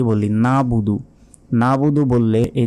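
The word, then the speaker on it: نَعْبُدُ: অনেকে কি বলি নাবুদু নাবুদু বললে এই যে মাঝখানে যে আইন রয়েছে এই আইনের উচ্চারণ কিন্তু আমরা বাদ দিয়ে বললাম তখন আমাদের গুনাহ হবে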